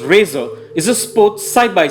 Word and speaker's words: RZR: 1000 coming up the polaris rzr pronounced razer is a sport side